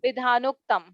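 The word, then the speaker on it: विधानोक्तम्: Yeah, so it is Vidhanoktam. No, it is Vidhanoktam. It is pronounced together.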